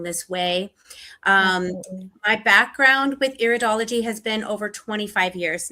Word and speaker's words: iridology: It's iridology.